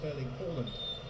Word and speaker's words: Erling Haaland: view on these things, he was asked to pronounce his name for the World Cup authorities and he said, "My name is Erling Haaland," as his father's was, but think his people